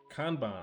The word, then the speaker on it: kanban: Kanban. Oh, that's the Japanese pronunciation.